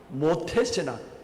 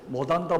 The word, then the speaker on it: 모태신앙: 참 모태신앙이라서, 모태신앙 여러분 발음을 잘해야 됩니다. 모태신앙, 못한다, 모태신앙 되면 안 되고요.